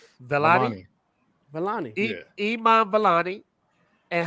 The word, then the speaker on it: Vellani: Vellani.